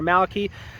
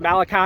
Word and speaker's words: Malachi: Malachi or Malaki Malaki or however you I'm pretty sure it's pronounced Malachi because that's what everybody's calling him.